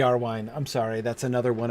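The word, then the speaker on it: Iarwain: i know little of yahrwein save the name but um i know it should be er wine i'm sorry that's another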